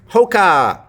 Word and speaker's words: Hoka: Hoka. O in English is a diphthong. How do we know that? Because if we have owl, like in coal, it turns into two syllables and you can hear a w sound. So 谓双母音 is actually a vowel and a W or a J. In this case, it's a W. So hoka, the second one, the second syllable, the vowel in the second syllable is a schwa.